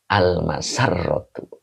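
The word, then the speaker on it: المسرة: Nah, ini dibacanya almasarratu. Nah, begitu ya.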